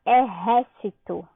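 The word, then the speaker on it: ejército: Nós temos aí a palavra exército. Qual a sílaba tônica de exército? O ré, né? Que é com J, mas como vocês sabem, o J tem o som de R em espanhol.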